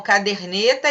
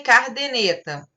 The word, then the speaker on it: caderneta: Trocar a posição de um ou mais fonemas, como caderneta e cardeneta.